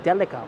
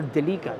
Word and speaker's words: Delica: Now, the totality of it, it kind of makes me think of, well, the Mitsubishi Delica or Delica, depending on how you say it.